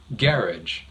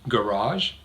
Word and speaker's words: garage: they sound very different the first one which I said garage stresses the second syllable garage but the other pronunciation stresses the first syllable and the vowel sounds